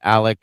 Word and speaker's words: Alex: Alex Murdaugh's name is pronounced Alec Murdaugh. Sorry about that, Jeff. Didn't mean to overstep my language boundaries there. But it has an X at the end of Alex.